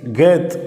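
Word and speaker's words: חית: ஆயுதத்தை அடையாளப்படுத்துகிற எழுத்தாக இருக்கிறது அடுத்த எழுத்து அடுத்த எழுத்து கேத் அப்படின்னு உச்சரிக்கிறோம். இந்த கேத் என்கிற எழுத்தை நாம் எப்படி எழுதலாம் என்று கற்றுக்கொள்வோம்.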